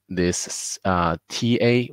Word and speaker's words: 他: So the pinyin for both he and she and the same, the pronunciation is the same. It's ta.